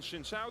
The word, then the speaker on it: Xin Zhao: Nautilus and Shinshao the bands, alongside Rumble and Oriana from Giant X. You know, I recently found out. It's over then, We've it's just over. been saying Xin Zhao wrong. Shinshao.